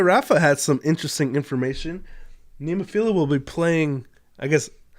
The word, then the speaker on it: Nemophila: Nemophila will be playing, I guess, Do I say that wrong all the time? I guess it's Nemophila, and I pronounce it wrong all the time.